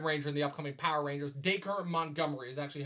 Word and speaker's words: Dacre: the new Red Ranger the upcoming power rangers dacre of Montgomery is actually how you pronounce that name of some birthday it sounds